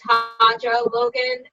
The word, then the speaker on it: Hanjo Logan: my name two ways so i'll say how i say it it's how i say